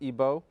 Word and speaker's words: Igbo: from Nigeria from the Igbo tribe otherwise pronounced ebo and Remy's a scholar